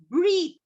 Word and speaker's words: breathe: The last word was breathe. B-R-E-A-T-H-E. See, E is silent. Yes, the E is silent at the end.